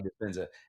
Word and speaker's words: Dispenza: inspiration for you, like Dr. Joe Dispenza, I think is how you pronounce it. Is that how you say that? Dispenza, okay, Dispenza. And then also Wim Hof.